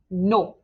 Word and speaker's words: nos: Nos. Just like over here, the S is silent.